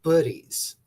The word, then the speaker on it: Buddies: And just for clarification for everybody that's here, it's pronounced buddies, like hoodie, buddy.